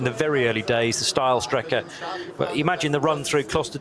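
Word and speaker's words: Steilstrecke: green no not quite steel Striker is now still Striker being that effectively the straight line route through the karachiola carousel so uh or style Striker would be the correct pronunciation where the track used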